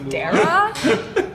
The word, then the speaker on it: Darragh: Where's Kelsey Dyer? She probably fucks with this. This drink is Kelsey Dyer. Kelsey, what do you think of that joke? Okay, it's true, but fuck you guys, it's pronounced Dara.